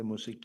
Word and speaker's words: Masemola: and that the national commissioner Mosekiti, that's how you pronounce it, eh? Mosekiti.